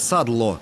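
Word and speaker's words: sadlo: По-словацки сало произносится как «садло» от слова «садиться», то есть то, что садится на мясо.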